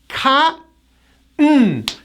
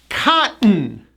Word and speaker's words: cotton: end with an N, we do not pronounce the T. It's silent, and the N is like a punch. Watch this. Cotton. Cotton.